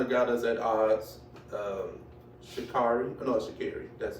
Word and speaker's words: Sha'Carri: Sha'Carri. That's how she pronounces it.